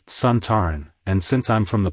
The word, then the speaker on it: Sontaran: the original Sontaran, Lynx, pronounced the race's name as Sontaran. Alan Bromley, the director, tried to correct him by saying it should be pronounced with the stress on the first syllable.